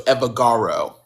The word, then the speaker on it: Evbagharu: The B is silent. So it's Evagaro.